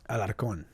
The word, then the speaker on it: Alarcon: Say it how it's supposed to be pronounced, though. Alarcon. Yeah. With an accent. Yeah. With an R.